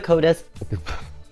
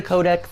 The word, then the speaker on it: codex: myself the secret of the CODIS that's not how you pronounce it the secret of the codex is an adult supernatural